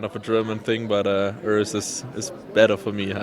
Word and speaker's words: Urs: How do you officially pronounce your name? I don't want to say it because I love the name Urs in the US. I just told my girlfriend before this pronouncing is so cool for me, and I wish they would also do it in Germany like the Urs. But at the end of the day, it's Urs.